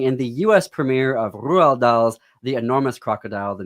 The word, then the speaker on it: Roald: the US premiere of Roald Dahl's The Enormous Crocodile, the musical, at Children's Theater Company. I just love saying his name now that I know it's Norwegian.